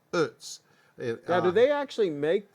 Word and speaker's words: Utz: You know, Utz actually employs a lot of people in Hanover, and the right way to say it is like Utz.